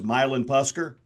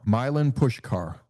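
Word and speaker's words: Milan Puskar: Uh for the for those that are out there the proper pronunciation is Milin Pusker. No actually it's Milin and then just think about pushing a car. Milin Pushkar.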